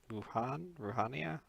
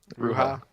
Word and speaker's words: Ruha: If he's not acting purely for Ruhania? Ruha? Oh, right, because we've been pronouncing his name wrong.